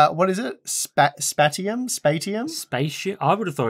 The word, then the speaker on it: Spatium: Spatium?